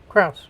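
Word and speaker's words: Krause: the cross right KRA how do you say that cruss cruss yep and this is a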